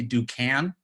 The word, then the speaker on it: Duncan: quick correction my lip my name is do can you've been mispronouncing my name all this time and I